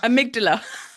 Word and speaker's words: amygdala: how do you say it The amygdala amygdala does that keep the amygdala in constant activation?